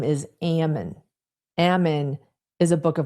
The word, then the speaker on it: Ammon: I mean, the CEO's name is Ammon. Ammon is a Book of Mormon prophet. And by the way, Reckless Ben, you keep pronouncing it Ammon, it's Ammon.